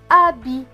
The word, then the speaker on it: habit: H et A. A, puisque le H ne se prononce pas, vous voyez l'écrit en bleu. B et I. Bi. Et le T à la fin ne se prononce pas puisqu'il est écrit en bleu. Donc, ce mot va se lire A-bi. Habit. Habit.